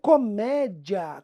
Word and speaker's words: comédia: Nisso Felipe mas comédia comédia aí a pessoa começa a pronunciar como se ela tivesse chupado gelo por meia hora e começa a achar que no fundo aquelas sílabas são separadas Ah Felipe Isso não é um um iato não é Ó sempre que